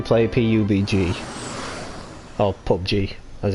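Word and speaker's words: PUBG: I don't really play ap you BG I'll pop G as it's pronounced yes pop G is it we've got a pickup to me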